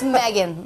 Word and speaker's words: Meghan: It's Megan, like Megan. Eggs, you know? Meg. Like eggs.